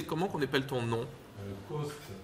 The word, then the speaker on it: Coste: Coste, alors C-O-S-T-E. Ok, comme ça se prononce.